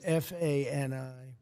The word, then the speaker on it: Fani: She goes by the name of Fani, even though it's F-A-N-I. She wants it pronounced Fani.